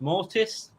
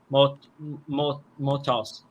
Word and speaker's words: Mortos: So the match was between Hologram and the Beast Mortis. Hologram. Mortos. How dare you mispronounce my favourite's name?